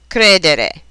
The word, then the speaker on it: credere: Many, but not all, of these verbs are accented on the syllable that precedes the next to the last. Here are some examples: credere, vendere, rispondere, ricevere.